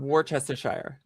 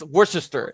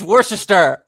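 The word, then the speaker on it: Worcester: Often and Warchester. Is that right? Oh, no. W It's worester. It's worister.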